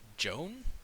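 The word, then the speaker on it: Joane: Joan Joanna Joan it's it's spelled j o a n e is that Joan yeah that's Joan actually I'm just she's pronounced Joan cuz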